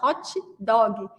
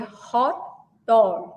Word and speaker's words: hot dog: E ele não entendia, porque a gente coloca o i no final, hot dog. E não é assim que fala. É hot dog.